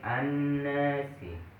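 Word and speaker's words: النَّاسِ: Contohnya tadi an-nasi. An-nasi, dengung ya. An-nasi, dengung, ada dengungnya. Didengungkan, bacanya didengungkan dan disertai dengung.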